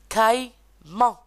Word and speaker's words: caïman: Par exemple, caïman.